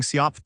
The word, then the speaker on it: SIOP: Today, we're covering SIOP 2, self-issued OpenID provider. The acronym is SIOP, and it's pronounced Siop.